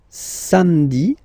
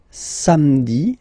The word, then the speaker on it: samedi: Then, samedi, samedi, don't insist on the hein? Samedi, samedi, all right.